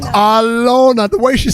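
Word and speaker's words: Alena: A L E N A, but spelled but pronounced Alona. Alana. Alona.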